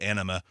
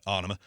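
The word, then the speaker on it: Ænima: favorite track off uh i always pronounce it anime even though it's not what it's pronounced but anima one or the other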